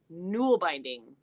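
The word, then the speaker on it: nålbinding: jumped in two um null binding is Scandinavian one needle knitting it's older than normal knitting pronounced oh thank you nual binding okay this is very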